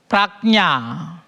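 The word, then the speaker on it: prajñā: Sanskrit word is prajna.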